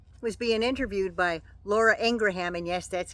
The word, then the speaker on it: Ingraham: mangle moose knuckle was being interviewed by Laura Ingraham and yes that's how you pronounce her name even her brother said so